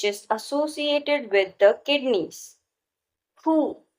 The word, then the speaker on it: Hu: Hu, pronounced like who, which is associated with the spleen.